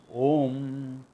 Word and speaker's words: Om: First sound, ah. Gullet, ah. Final sound, close your mouth and make a noise. In between an oot represents all the sounds in between. A, U, When they coalesce together phonetically, not by Sandhi rules, etc. All Sandhi rules are based on phonetics. Therefore, when they coalesce together phonetically, A, U, becomes Om, stands for Ishvara.